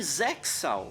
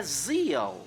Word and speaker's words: ZEXAL: Eu sempre falei zexal, mesmo sabendo que o correto é zal. Esse X é mudo. Tipo de Hunter versus Hunter. Zal se traduz como zelo mesmo, ter cuidado por algo, zelar pelo próximo.